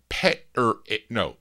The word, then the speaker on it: Peterick: Randy says I pronounced his name incorrectly. Jim Peterick.